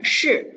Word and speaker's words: 是: Okay, so it's the word, this one, SHI, 是. Okay, not she over there. 是. Put your tongue in the middle of your mouth.